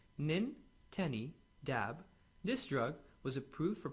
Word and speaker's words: Nintedanib: pulmonary fibrosis or IPF pronounced min Tenny dab this drug was approved